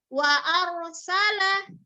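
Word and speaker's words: وأرسل: Wa arsala ya. Bukan dibaca wa ar.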